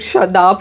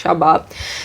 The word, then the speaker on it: Shabab: Shabab, by the way, I said the name wrong. I said Shadab for some reason in the last Shut up. episode. Kind of. Shadab, but it's Shabab.